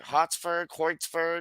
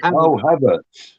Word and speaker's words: Havertz: Hortzberg. Oh, Havertz.